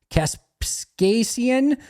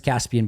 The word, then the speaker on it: Kaspasian: Wagner, Josh McCormick, Prince Kaspasian, and then Jeremy Harder. It's not Prince Caspian, by the way. I know that one. That's not how it's spelled.